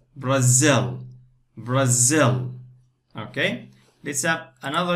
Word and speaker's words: Brazil: So we say Brazil. Two parts, the stress on the second part. Brazil.